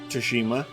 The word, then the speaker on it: Tsushima: I didn't play Ghosts of Tsushima, that's the right way to pronounce it.